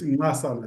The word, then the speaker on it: Nxasana: It's close enough. It's Nzasana. There's a click. Nzasana. That's good.